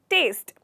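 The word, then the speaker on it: taste: तो यहाँ पे हमारा ई वर्ड साइलेंट है, ओके, इसलिए हमें इसे सिर्फ टेस्ट, टेस्ट, टेस्ट इस तरह बोलना है।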